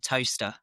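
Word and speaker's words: Towcester: Have I Yeah, pronounced that yeah. right? Yeah, town in Northampton called Toaster.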